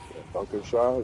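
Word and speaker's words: Dankeschön: thank you very much Don Shan is how you say it is Donan Sean yeah Shan like uh shown kind of but not as hard on the o Shan it means it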